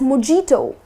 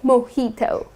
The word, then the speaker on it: mojito: yes it's delicious but people tend to pronounce it as mijito that's incorrect the correct pronunciation is most heat oh okay so instead of putting stress on the j like more dito that's incorrect you're gonna say mojito I'd have a glass